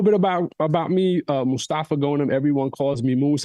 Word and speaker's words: Mostafa: I just tell everybody please don't call me mustard or Mufasa you know what I'm saying growing up in the states different communities man they butchered my name left and right it's like oh Mufasa I'm like no it's Mustafa guys I'm not talking about the Lion King please so I appreciate